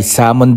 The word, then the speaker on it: salmon: Salmon dito sa tray Ito nga sa Canada ay salon daw ang tamang pronunciation dito nilagyan ko na